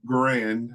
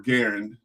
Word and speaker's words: Garand: I literally have an M1 Grand or Garand, depends on how you want to pronounce it, that literally on its own.